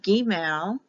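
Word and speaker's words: Gimel: next letter is G Gmail because the I is pronounced like an e Gamal it's spelled with one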